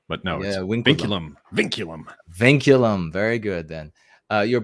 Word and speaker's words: vinculum: it oliver it's well i call it vinculum but if it were in proper old latin the v's are like w's so they call it winkurum but now yeah vinculum vinculum very good then